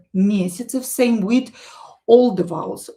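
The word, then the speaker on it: месяцев: Some less for example here mesyatsev mesyatsev this ya will be pronounced as i.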